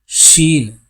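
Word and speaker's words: شين: ஷீன், சாதாரண சொல்லலாம் scene. ஷீன், அதாவது இஷ் உச்சரிப்புடைய ஷீன்.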